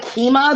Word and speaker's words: Kemah: there's actually well it's some people call it keema there's actually a keema boardwalk that's spelled just like my name in texas that's where